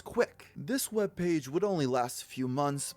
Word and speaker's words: CWC: version of kwik's pokesite cwc are the initials of christian's full name which he is unusually proud of due to its ability to be pronounced as quick this webpage would only